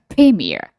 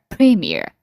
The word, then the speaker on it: premiere: ဒါဆိုလည်းဟို premီးယားဆိုပြီးတော့လေဟိုအသံကိုအနောက်ဆုံး media မှာအားစိုက်စရာမလိုဘူး။ We can pronounce premiere air premiere mayor premiere premiere you can pronounce like that ဒါဆိုလည်း dearရာလို့မထွက်တော့ဘူး dear dear